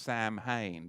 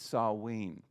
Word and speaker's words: Samhain: serve sarween now in in your english you'll often see it looks as if it should be pronounced samhain but it's not it's sarween and it's no different